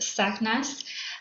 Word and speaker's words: SACNAS: Um so SACNAS if you've heard of us or seen uh our acronym before it is pronounced SACNAS and that stands for Society for Advancement of Chicanos, Hispanics and Native Americans in science.